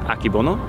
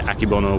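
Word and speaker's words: Akebono: a a mutation hybrid I believe pronounced akibono it's Japanese and that is actually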